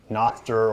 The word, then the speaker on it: Nostr: Let's talk about Nostra, or Nostr, or however you pronounce it. It's Nostr for those who are unfamiliar.